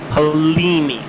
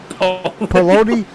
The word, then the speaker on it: Polini: I don't want to hear you talk about any mistake that I just say the leader's name. Pete Polini. You said it right now. What was it earlier? Poloni? Poloni.